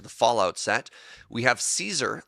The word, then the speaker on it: Caesar: Now, the other side of the trade, back to the Fallout set, we have Caesar, Legion's Emperor, or as they pronounce in the video game, Kaiser.